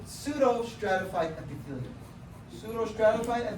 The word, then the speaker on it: pseudo: silent so if you so if the p is silent you just pronounce the S pseudo stratifi it doesn't matter though you can pronounce a Pudo if you prefer but